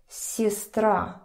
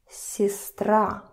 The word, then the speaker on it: сестра: So here, А is stressed, сестра. Let me, in case you don't remember, sister. So we see that Е is not stressed. So listen to my pronunciation. Сестра, сестра, сестра.